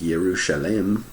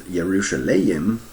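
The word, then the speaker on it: ירושלים: And then if we look up Jerusalem, it's actually pronounced Yerushalem, and then sometimes Yerushalayim, I guess sometimes, an allusion to its main hills.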